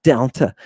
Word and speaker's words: delta: What about delta? Just like the D in den.